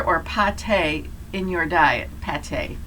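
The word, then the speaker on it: pâté: pate in your diet pate that's how you say it pet long-term protection it would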